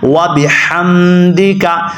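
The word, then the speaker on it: وَبِحَمْدِكَ: غلطی ہوتی ہے کہ یہ حروف ہلکیہ ہے اور یہاں پہ موٹا ہا لوگ پڑھ بیٹھتے ہیں، وَبِحَمْدِکَ، تو وَبِحَمْدِ نہیں پڑھنا بلکہ کیا پڑھنا ہے؟ وَبِحَمْدِکَ، اور بعض لوگ اس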